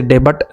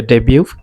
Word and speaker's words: debut: he made his डेब्यू, DEBUT, इसे डेबट नहीं पढ़ना है, टी साइलेंट है, आप पढ़ोगे डेब्यू, यानी फर्स्ट टाइम कब